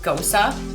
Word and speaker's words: Gose: here in winnipeg so this beer is a ghost or you can pronounce it ghosa ghosas originated out of